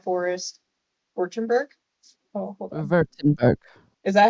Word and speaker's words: Württemberg: Württemberg. Is that how you say it? It's The Köln. W's are V's.